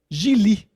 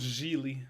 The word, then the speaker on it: Gigli: Ça se prononce Geely. Geely, oui, c'est ça, Geely. It rhymes with really, qui dit.